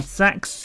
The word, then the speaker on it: CeX: When I was a little kid, my mom took me to Sex and yes, that is how it's pronounced and I got to pick any game I wanted.